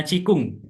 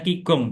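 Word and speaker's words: qigong: Kemudian ada ini bacanya cikung tulisannya kigong tapi bacanya cikung.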